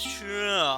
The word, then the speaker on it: Churl: Name's Churl. I keep the stables here. Churl, doesn't that rhyme with girl?